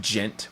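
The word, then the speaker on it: djent: metal oh I see the D is silent so it just gent with a like a oh and clutch says it right there gent so with a J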